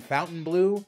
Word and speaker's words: Fontainebleau: In case you're wondering why I'm saying Fontainebleau, that's the way it's pronounced all the way since 1954.